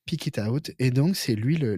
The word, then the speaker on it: Pick It Out: s'appelait pick it out ça se prononce tout tout attaché pick it out et donc c'est lui